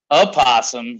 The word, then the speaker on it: opossum: Opossum versus possum. Either or, you can spell it however you want. But the O is always silent.